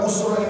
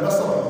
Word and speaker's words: Busra: Jadi kota Busra ini bukan Basra, bukan Busra, dan tidak menggunakan shin dan pakai sad, Busra.